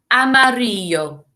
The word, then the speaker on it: amarillo: the same signs english look at the word and listen as i say it amarillo well done if you've